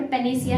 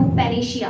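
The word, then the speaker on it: panacea: ये वर्ड पेनेसिया है, नो पेनेशिया। पेनेशिया नहीं, पेनेसिया।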